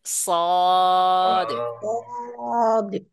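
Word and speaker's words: ص: বের হয়ে যায় আপনার জিহ্বার আগাটা কে নিচের এই যে সামনের নিচের যে দুই দাঁত আছে না দাঁতের মাঝে লাগান মাজায় লাগায়ে উচ্চারণ করেন সদ সদ হুম অর্থাৎ এখানে আরেকটা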